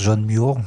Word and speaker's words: John Muir: se prononce Somerset Maugham, mais John Muir se prononce John Muir, donc je vais souvent le dire John Muir, mais ça s'écrit M-U-I-R.